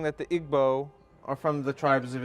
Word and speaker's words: Igbo: comes from Nigeria from the Igbo tribe otherwise pronounced IBO and Remy's a scholar